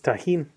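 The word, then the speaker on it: Tajín: your experience is it is that how most people pronounce that word it's tahim yeah yeah they don't add an e at the end yeah no I've never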